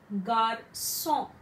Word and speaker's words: garçon: Now this C cedilla before A, O or U, it gives the sound as S. For example, garçon, garçon, that is boy, and not pronounce it as garçon.